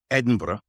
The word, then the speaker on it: Edinburgh: I saw in Edinburgh, trying to get the pronunciation of that correctly, Edinburgh, in Scotland recently.